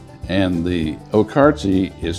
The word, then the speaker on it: Okarche: And the Okarti is spelled OK K A R C H E.